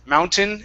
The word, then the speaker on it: mountain: so just remember when the T, and it works with like the word mountain. Mountain has Mountain. it's one T, but it's the AIN. Okay, if it has any combination of vowels and an N, we cannot pronounce that T like a flap T. It has to Okay. be a normal T sound or a swallowed T.